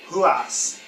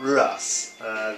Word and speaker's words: Ruas: Tito Ortiz, Maurice Smith from the last video, Marco Ruas from the last video, not Ruas. The R is pronounced as an H in Portuguese, or Brazilian Portuguese anyway.